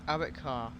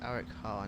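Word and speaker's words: Arrochar: Eric Carr. Yeah, that's how you pronounce it. Eric Carr and Tarbert.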